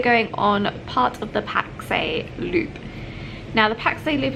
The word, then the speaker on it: Pakse: in a place called Pakse. It's spelled Pax, but we heard our taxi driver when we were talking to him call it Pakse, so we are saying Pakse.